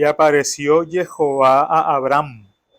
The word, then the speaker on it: Jehová: le dijo Yo soy Jehová aquí en hebreo coloca el tetragrama H que la semana pasada explicamos que no lo sabían pronunciar hasta hace poco que se descubrió que la verdadera pronunciación es Jehová y aquí está el